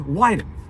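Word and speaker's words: Wyden: is a guy named weiden who I say it's funny his name rhymes with Biden his name rhymes with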